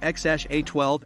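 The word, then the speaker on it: X Æ A-12: Grimes also stated that the name is pronounced as x-a-12 and also in an interview Elon Musk also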